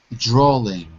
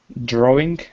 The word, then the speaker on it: drawing: interesting creative ok good little problem 2g though drawling drawing you're saying drawling with a k but i want you